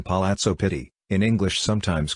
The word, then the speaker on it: Palazzo Pitti: The Palazzo Pitti, Italian pronunciation Palazzo Pitti, in English sometimes called the Pitti Palace, is a vast, mainly Renaissance, palace in Florence, Italy.